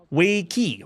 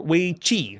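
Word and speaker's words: weiqi: next release is go or way key or way Chi depending on your pronunciation that's right go I'm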